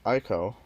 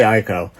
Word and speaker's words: Ico: And then I have Ico, or Eco, however you want to pronounce it. I'd say Ico. I still would say Ico.